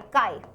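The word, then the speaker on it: chi: कैसे प्रोनाउंस करते हैं? CH आई काय।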